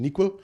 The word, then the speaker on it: N1QL: So they have a query language called NeQL, which is like N1QL, but it's pronounced NeQL.